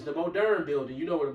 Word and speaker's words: Moderna: You swap out the A for an E, or you can say it like a Frenchman and keep the E. Moderna. Like a Spanish E. Yeah. It sound A.